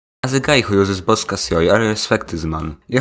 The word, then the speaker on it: Bosca Ceoil: It's pronounced Bosca Ceoil.